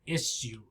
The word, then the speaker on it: issue: listening we can hear issue issue two syllables issue right here the sound is not s right the name the letter s the sound here shh like shh or ship right issue issue but here you